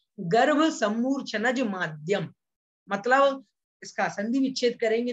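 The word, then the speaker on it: माद्यम: माध्यम नहीं बोलना है, कुछ लोग माध्यम बोल देते हैं, भाई माध्यम नहीं है, माध्यम है। द्यम, दा और या को मिलकर के यहाँ पर द्या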